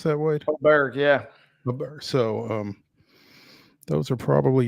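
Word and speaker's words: Åberg: Is that how you pronounce that, Wade? Aberg, yeah.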